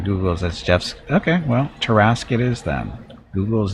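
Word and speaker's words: Tarrasque: myself won't be the last mostly here to pronounce tarask according google that's jeff's okay well terrasque it is then google is never wrong apparently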